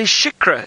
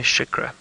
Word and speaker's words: Shikra: It's a Shikra, everyone.